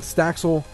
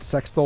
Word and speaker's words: Staxel: Again, Staxel by Pluckit, I believe is how you pronounce it. It is not Sextol or whatever the fuck you called it.